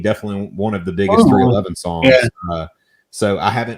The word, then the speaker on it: 311: 311, which is, just the numbers 311, pronounced 311, is an American rock band from Omaha, Nebraska.